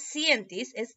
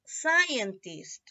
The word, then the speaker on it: scientist: scientist ok aguantaba sciences mira escuchar la pronunciación no es sientes scientist ok y la escritura